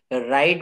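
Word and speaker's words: write: wrestling বলছেন না এখানে যেমন এই যে রাইট বানানে ডাবলিউ রাইট বলা হচ্ছে না এখানে এই শব্দ এই যে লেটার গুলা এইগুলোকে বলে সাইলেন্ট লেটার এমন আরো অনেক শব্দ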